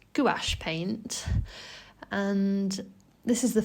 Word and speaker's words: gouache: a palette by Mia I believe it's pronounced it's gach paint and this is